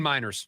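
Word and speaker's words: Meinerz: Quinn Miners.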